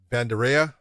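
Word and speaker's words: Vanderaa: uh i always say it wrong but it's bandara okay that's romanov is strong powerful he hasn't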